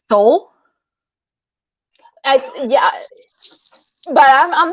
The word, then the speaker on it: Seoul: is it called sun i think it's pronounced sol like the the the capital of korea south korea but seoul yeah but i'm not